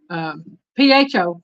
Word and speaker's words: pho: Now, I know I probably pronounced it wrong, but this is PHO, pho.